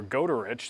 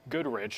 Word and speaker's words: Goderich: If you look across Lake Huron here going into Ontario near Goderich, that's not Goodrich. A lot of people tell me that Goodrich is at the wrong spot on the map. That's actually Goderich.